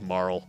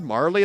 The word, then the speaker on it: Marle: I usually go with Marl. Marl is how I do it. I've heard Marley. That's the way my brother pronounces it even.